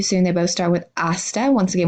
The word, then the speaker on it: hasta: they both start with hasta once again we don't pronounce the H for see you later